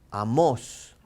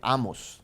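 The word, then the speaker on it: Amós: light siguiente profeta menor fíjense dónde está el acento en la obra entonces amos amos que hay gente que dice amos no estamos es amor amos escrito por amos allá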